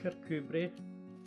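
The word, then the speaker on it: Kirkcudbright: movie was filmed in The Villages nearby pronounced carcubrey that is Scotland's answer to Saint Ives and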